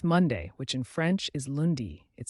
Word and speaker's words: lundi: week starts with Monday which in French is lundi it sounds like lundi remember the French week starts on Monday not